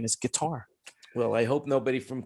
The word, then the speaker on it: Qatar: have to go through cutter or quitar guitar qatar it's it's like a g in their language it's guitar yeah no it's because it's arabic but that's the correct pronunciation is guitar well i hope nobody